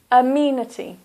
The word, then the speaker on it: amenity: pronunciation of these words the first word is amenity so that's four syllables this is a here is the stress amenity amenities so you've got